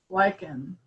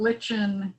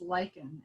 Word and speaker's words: lichen: that lichen is pronounced lichen it's not lichen it's not something else it's lichen as in i like you all right so we